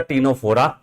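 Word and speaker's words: Ctenophora: is the cant neria third is the Tora where the C is silent fourth is the platy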